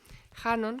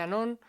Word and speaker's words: Hanon: Yo he usado mucho Hanon, que se escribe con H, o Anon. Hay gente que dice Anon.